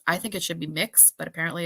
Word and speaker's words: Mx: It's MX, and apparently it's pronounced Mux. I think it should be Mix, but apparently it's Mux.